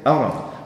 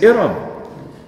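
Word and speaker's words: إرم: They spell it Alif Ra'min. That's Iram. They say Aram. Or they say Aram, but it is Iram.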